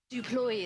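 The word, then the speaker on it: du Plooy: Duploy, is it? Duploy. Leas Deploy. Okay. Yeah. Hate mispronouncing names, I think.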